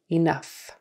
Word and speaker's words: enough: So remember, rough, tough, tougher, roughage, enough. Those are all pronounced uff.